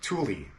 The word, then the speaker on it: Thule: purchasing the rack was how do you actually pronounce truly is a fool Thule to who I don't know I had to research this and my conclusion is it's Thule that's how you pronounce it just so you know